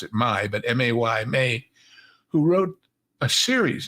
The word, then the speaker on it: May: in Germany there was an author named Carl pronounce it Ma but Ma y May who wrote A series he was the